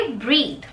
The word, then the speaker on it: breathe: इसको ब्रीद नहीं बोलेंगे, ब्रीद कब बोलेंगे? जब इसके आगे ई लग जाता है तो, ठीक है। अगर स्पेलिंग है BREATH तो उसको आप बोलेंगे ब्रेथ, और अगर स्पेलिंग है BREATHE तो उसको आप बोलेंगे ब्रीद, ठीक है।